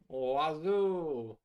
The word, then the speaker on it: oiseau: Do you know that bird in French is oiseau? But none of the letters are pronounced like you'd expect them to be.